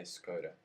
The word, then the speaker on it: Škoda: Is it pronounced Škoda? Is it Škoda, yeah. Škoda? And here you say Skoda.